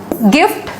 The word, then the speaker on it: gift: वाई नहीं है तो सिंपली ग पढ़ दो, नहीं तो ज पढ़ दो, ठीक है। एज आई सेड, हर एक केस में आपको एक्सेप्शंस मिलेंगे, तो एक्सेप्शंस आपको यहाँ भी मिलेंगे। और इस वाली स्पेलिंग मिस्टेक में ना बहुत अच्छे वर्ड्स इस रूल के अंदर नहीं आते हैं। जैसे आप बोलोगे कि ये क्या लिखा हुआ है, ये लिखा हुआ है गिफ्ट, GIFT गिफ्ट।